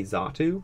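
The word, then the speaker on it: Xatu: Pokeballs Slowpoke xa2 which another thing I've always said NATO and xa2 because I didn't know how to pronounce x a t u as a kid but people say zatu nato and zatu Native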